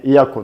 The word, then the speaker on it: Yacco: Ну, по-французски это читается Yaku, поэтому будем сегодня в течение нашего всего видео называть бренд Yaku правильно.